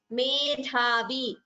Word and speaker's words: medhavi: Medhavi. Dha is mahaprana. Chinna samshayah.